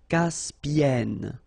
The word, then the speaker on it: Caspienne: Caspienne.